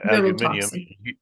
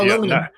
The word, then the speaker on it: aluminium: and then you say that how do you pronounce I say aluminium oh aluminum you say aluminum I can't I was brought